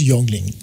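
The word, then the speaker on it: Jüngling: called youngling young lady the proper term in german is j-u-n-g-l-i-n-g but it's pronounced as youngling okay all right so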